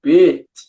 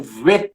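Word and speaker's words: ב: Dentro do B tem um dagesh dentro. Isso simboliza que ele é um B. Se ele não tivesse o B aqui, ele seria um V. Seria um vet, que a gente fala.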